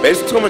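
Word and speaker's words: Maelstrom: 예, 그때 그 이문계설이 메일스트롬이라고 발음했다가 저희가 막 마일인데 뭔 개소리냐 막 이러면서 웃지 않았습니까? 그쵸. 근데 알고 보니까 진짜 그 팀리퀴드의 외국인이 예, 메일 그 이문계설이 발음한 게 맞다. 예, 이렇게 얘기를 하시더라고요.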